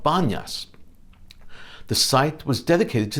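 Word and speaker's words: Banias: depicted with his flute this site should be called panyas but locals arabs could not pronounce it so it's called banyas some accents and speakers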